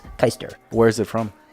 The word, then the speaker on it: Keister: ER yeah but it's the proper pronunciation is Hyster where's it from it's German actually I myself am NOT German my father is and ya know it's he pronounces it keister I don't know what